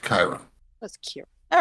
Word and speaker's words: Chiron: It's the company that invented them is named after the ancient Greek centaur, whose name is Chiron. Right. Chiron. Yep. In English, it's pronounced Chiron.